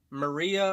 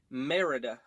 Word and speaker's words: Merida: mispronounce her name so I always want to say Maria or mariya or but I know it's Merida always gotta say it slowly um but other than